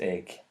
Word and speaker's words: Eigg: way oh yeah SP spell E I G but pronounced egg there's no I well